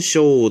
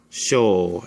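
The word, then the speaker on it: 小: The first one is the symbol for small, sho, and it's pronounced like this, sho.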